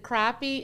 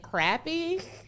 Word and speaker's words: crappie: fisherman i'm glad he spelled that because he pronounces it crappie and the flint michigan girl and me would have said i've been pronouncing it crappy crappie assassins that's not a flint thing oh